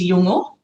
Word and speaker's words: Yolngu: To pronounce it properly, it was Yolngu, the Yolngu people up in Arnhem Land.